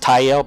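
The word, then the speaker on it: Tyal: I realize that could also possibly be pronounced Tyel, but I just pronounce it TL because there's no in English.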